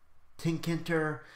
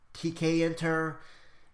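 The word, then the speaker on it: Tkinter: so uses TK enter how we pronounce that tink enter TK enter a toast usually call that TK it when it's by itself but that's the GUI that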